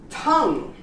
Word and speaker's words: tongue: How about tongue? You don't pronounce the U.